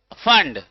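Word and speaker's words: Pfund: Lyman series, बामर series, Paschen series, bracket, फंड, P silent है, और सबसे लास्ट हम क्या है, हमफ्री।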